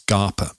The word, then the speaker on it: Scapa: SCAPA, everyone, but it's pronounced Scarpa.